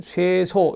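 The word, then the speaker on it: 쇄소: 이 자장편에 자하문인 소자, 자하의 문인들, 그러니까 자하의 제자들인 그 소자들은 당 주소, 이게 주소지만 발음할 때는 쇠소 이렇게 물을 뿌리고 청소하는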